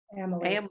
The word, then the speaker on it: amylase: Now, I don't know how to pronounce this. This first word is amylase. What is that? It's a digestive enzyme. Amylase.